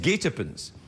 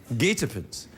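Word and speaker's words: guetapens: year there that that's the winning word it's pronounced gatens gatens it means a trap or Ambush I thought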